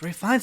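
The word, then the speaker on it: Ralph Fiennes: It's pronounced Ray Fiennes.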